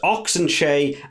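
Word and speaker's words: Ox Nché: Vincent fans Mark Herbert I believe it's pronounced oxenshay and Trevor niacani now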